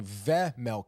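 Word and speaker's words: Vejmelka: over the pad of V Mela uh which I believe they've been pronouncing ve Mela I guess the J is silent um I wasn't aware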